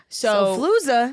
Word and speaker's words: Xofluza: Xofluza. Xofluza is a one-day pill for um the flu. And maybe I'm pronouncing it wrong.